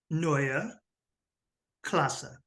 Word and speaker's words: Neue Klasse: design language ah yeah that would be Noya classa okay and the K is almost like a g sound if you really you